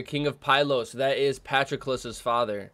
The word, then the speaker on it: Patroclus: That is Patroclus's father. It's pronounced Patroclus. It's not Patroclus. I said Patroclus for such a long time.